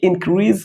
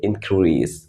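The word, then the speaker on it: increase: इट इंक्रीज लेकिन दोस्तों ये इंक्रीज कहना बिल्कुल गलत है whether you are produce in American और ब्रिटिश आप अमेरिकन में पढ़ रहे हो या आप ब्रिटिश में इसका उच्चारण कर रहे हो इसे हम इंक्रीज नहीं कहेंगे इसे हम कहेंगे इंक्रीज इंक्रीज दोस्तों इस वर्ड में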